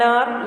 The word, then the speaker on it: hour: Number 2, it took us dash N आर या ए आर to reach the airport. अब ये HOUR आवर है, आर बोलते हैं इसको, लेकिन एच यहाँ पर क्या है, साइलेंट है ना।